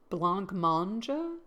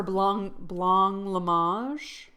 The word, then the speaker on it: blancmange: It's a European blanc mange. Mange is eat. Okay. jelly-like treat thickened with gelatin. Let's do pronunciation. Blancmange. Oh, blancmange. Words. A blancmange. Meg wanted me to bring some of her blanc lamage.